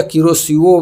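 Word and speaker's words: Kuroshio: क्यूरोसिओ उत्तरी प्रशांत महासागर की किरोसिओ गर्म जलधारा है। इसको कई तरह से लिखे हुए मिलेगा। क्यूरोसियो किरोसियो ऐसे-ऐसे लिखा रहेगा। तो आप समझिएगा किरोसिओ बस आ रहा है प्रोनाउंसिएशन।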